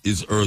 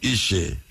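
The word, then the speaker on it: Eshe: Means gentleness is her soul. Gentleness is her soul.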